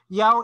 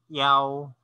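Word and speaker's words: 幺: Yao is the alternative pronunciation for the number 1 because sometimes the word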